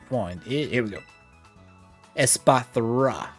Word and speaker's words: Espathra: Espathra. I keep mispronouncing it, but it's like, why? Why is the thra there at the end?